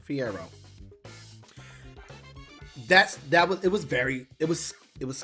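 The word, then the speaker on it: Fiyero: The transitions of Bach and Fiero. That's how you say his name. Fiero.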